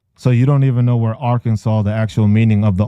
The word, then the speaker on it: Arkansas: have the lower education in the state of Arkansas. Cause you're gonna be a dumbass and talk about silent words or silent letters.